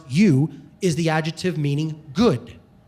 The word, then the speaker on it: eu: The prefix or the adjective you, epsilon in Greek, pronounced you, is the adjective meaning good.